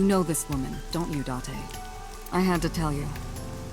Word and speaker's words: Date: I called you here to inspect the scene, Date. And it is Date. Yes, nailed it.